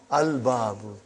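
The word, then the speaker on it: الباب: Moon letter. You did pronounce lam. Al-babu. Huh?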